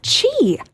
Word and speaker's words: Qi: this one q i I just say Qi no it's Chi Chi yeah again this is a Chinese term so like we don't have this in English it's Chi who knew uh this